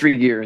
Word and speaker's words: Regier: Do you pronounce that Regier or Regier? You're still on mute. Now, can you? It's Regier.